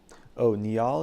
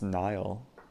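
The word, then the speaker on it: Nihal: Queen f6 looks attractive onie all is pronounced Nile oh so it's Nile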